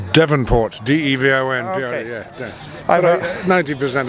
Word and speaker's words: Devonport: How your name is pronounced? It's Devonport, D-E-V-O-N. Okay. Yeah. But 90% of people call it Davenport because it's...